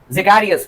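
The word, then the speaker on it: Zacharias: Hence, HANS, hence and जैकारियस, इसको हम लोग बोलते हैं जैकारियस, ZACH।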